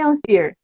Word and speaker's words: Anfir: Por que o nome Anfir? Ah, legal. Pode E, por favor, me corrijam se eu estou pronunciando certo, porque, né, gringo é assim mesmo. Ah, tá, beleza. Tá certinho, tá certinho.